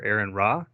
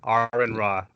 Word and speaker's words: Aron Ra: Aaron rah hi mr. raha are you sorry it's pronounced Oren though ahran ahran rah all right how are you doing well all